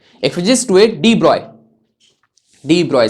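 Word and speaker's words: de Broglie: तो 1924 में एक फिजिसिस्ट हुए डी ब्रॉय, सर ये तो डी ब्रॉगली है, प्रोनाउंस इसको डी ब्रॉय किया जाता है, BROY, डी ब्रॉय, BROY, ये प्रोनाउंसिएशन ऐसे किया जाता है।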